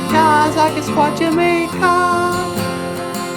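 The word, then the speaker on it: Gaa-zagaskwaajimekaag: GAAZAGASKWAAJIMEKAAG.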